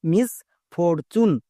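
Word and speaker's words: misfortune: ইউ এন ই চুন একে অনেকে ভুল করে উচ্চারণ করে টুনে টুনে হবে না চুন তাহলে কি হলো মিস ফরচুন এর মানে হচ্ছে দুর্ভাগ্য যদি আমাদের দুর্ভাগ্য বোঝায় তখন আমরা মিস ফরচুন এরকম ওয়ার্ড ইউজ করব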